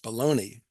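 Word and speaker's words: bologna: that is spelled bolognia like the city but pronounced baloney and the became associated with depression and tough times financially.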